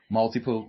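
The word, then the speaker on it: Maltipoo: hitting a three-month-old uh, Malti Poo puppy. Uh, is that how you say it? Mount. Anyway, oh, multioo. Multipoo.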